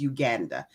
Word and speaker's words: Uganda: Yes, I will be returning to Uganda, and we say Uganda. The proper pronunciation, by the way, is Uganda.